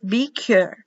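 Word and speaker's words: בכור: first first fruit bicher be cure be cure the eyes pronounce like an e b i k double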